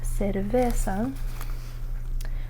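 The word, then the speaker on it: cerveza: So the word cervesa, see it's c e and you pronounce it like se. And then when it's c a it's ca.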